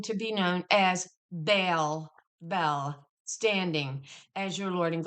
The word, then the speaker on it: Bel: Um it's I often every video I'll say bail. Bale. Bell. Okay. But apparently the proper pronunciation is bell, but I state it.